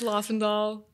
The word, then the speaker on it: Lofvendahl: to pronounce it cuz I wasn't there's some silent letters it's I know I totally get it it's okay um yeah it's LA and doll so yeah everyone we know yeah um well